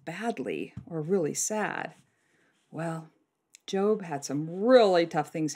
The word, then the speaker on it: Job: It's spelled J-O-B, so it looks like Job, but it's Job.